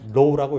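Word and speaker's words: ρ: 읽을 때 뭐라고 읽느냐면 low라고 읽어요.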